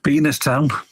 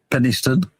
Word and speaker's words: Penistone: That's right, D-Dub, Penis Town. Although it's pronounced Penistone.